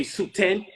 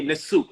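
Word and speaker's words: nswt: the more archaic form, because they have something called honorific transposition. So there's things that we consider to be divine, we wouldn't pronounce first when we see it in the word. So if you see the soot plant first, you wouldn't pronounce it. If you don't know better, you would say Suten. When you can read the Medu Neter, you say Nesut.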